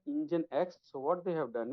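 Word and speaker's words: nginx: how it is pronounced basically it's an engine X so what they have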